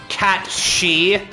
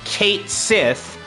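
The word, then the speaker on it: Cait Sith: Everyone say hi Kate Sith or as it should be pronounced cat she yeah for those who didn't know that is actually a Gaelic name uh and it's not pronounced Kate Sith as everyone has said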